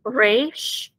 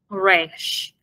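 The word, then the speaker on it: ריש: Then we have the resh. And this, it makes the R sound, but not like the R in English.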